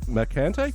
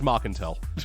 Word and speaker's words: Marcantel: directed by michael mcintyre mccanty sorry he's not a usual director oh there's an l there it's marcantel okay if you're never sure